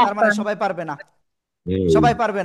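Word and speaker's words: نساء: নুন জের উকুম ওকে, নুন জের নি, সিন আলিফ জবর সা, এ যে চার আলিফ মাদ, নিসা।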